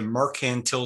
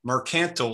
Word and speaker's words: mercantile: the mother country under the mercantile system or mercantile system i've i've heard the